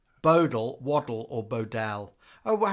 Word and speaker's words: Bodell: Bodell is pronounced Bodell.